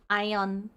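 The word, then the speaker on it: AEON: Well, however you pronounce it, we pronounce it ion yeah yeah yeah this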